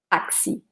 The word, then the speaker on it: taxi: For example, taxi. In this case, the X, it's indeed pronounced like a K followed by S. Taxi, taxi.